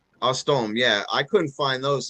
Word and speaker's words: Eustoma: I can't pronounce the first one. How do you say it? Eustoma. Ostome.